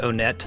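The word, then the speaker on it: Onett: stage or I guess a lot of people out here pronounce it Oh net I thought it was one cuz it's like want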